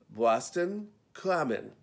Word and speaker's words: Boston Common: they seem to know the rules the name Boston Common is a real challenge and native explained that the right pronunciation is and this is a bit of a tongue twister Boston clammin and let's not even get into the Massachusetts